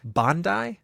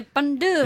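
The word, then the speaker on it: Bondye: Voodooists believe in a supreme creator known as Bandai. I think that's the way you pronounce it, but it's derived from the French bon Dieu, or good God. So when you say good God, You say bandu.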